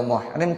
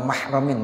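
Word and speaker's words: مَحْرَمٍ: Jadi wa amma iza kana ghairu mahramin, gitu bacanya. Adapun apabila dia itu bukan mahramnya. Jadi kalau muhrim orang yang ihram, kalau mahram lawan daripada ajnabi. Kalau istri namanya mahram.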